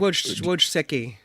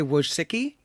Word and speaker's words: Wojcicki: It feels like Wojcicki. Wojcicki. Say it again. Yeah, I say Wojcicki.